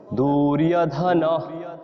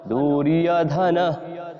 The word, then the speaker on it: দুর্যোধন: দীর্ঘ করব এজন্য বলছি এটি হস উকার এজন্য উচ্চারণের সময় কম লাগবে দুর্যোধন দুর্যোধন তদা ঠিক আছে তারপর